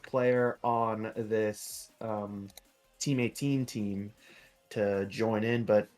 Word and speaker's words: XIIX: Uh for right now we've got X IIIX pronounced team 18 and Good Vibes Only